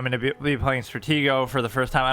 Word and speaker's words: Stratego: just called like play strategio online or play strategio uh Stratego I think is how you say it I keep saying it wrong but whatever um and